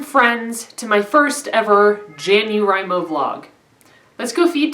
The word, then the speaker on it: JanuWriMo: I have had some people tell me to pronounce it jano rime oh but that's not happening it's Jan dear I'm o for me and that's what it's staying so